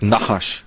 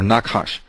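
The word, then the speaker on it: נחש: And that also comes from the Hebrew because the word for um serpent uh doesn't have any vowels but it's sort of pronounced like nahash or nakash nakash n h shh that term also means to find out or to discover.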